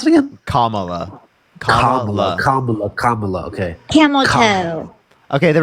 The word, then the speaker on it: Kamala: or Kam am I saying how do you pronounce it again Kamala comma okay camel okay there we go Anna